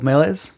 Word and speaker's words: Meles: So Jordan was on a while back to talk about his first game as a solo dev, uh, Oracle of Melees.